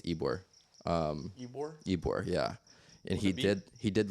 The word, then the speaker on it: Ybor: I never pronounce this right. Ybor, I think it's Ybor.